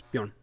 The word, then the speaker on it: Bjorn: No, you're saying it wrong. It's Bjorn.